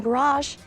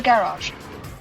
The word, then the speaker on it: garage: I have some tiki torches in the garage. A word with too many pronunciations for its own good. It's often pronounced with a long A at the end in America, sounding more like garage.